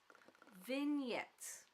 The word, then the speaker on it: vignette: Is it Vignette? Vingette. Give me a second. Let me Google this before I drive myself crazy trying to figure out how to pronounce things. Vignette. Okay. The G is silent, which is surprising. Um, but yeah, so there's